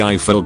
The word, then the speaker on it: Eiffel: I'm pretty sure we are naming her Eiffel, pronounced like rifle.